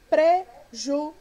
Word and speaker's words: prejuízo: Nós temos prejuízo. Prejuízo é uma polissílaba e é uma paroxítona. Qual é a sílaba tônica de prejuízo? Exatamente, o i, certo?